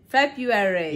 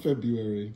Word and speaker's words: February: days next one February no February it's not February yeah or you say February but that's yes phonetically no one says February no one goes around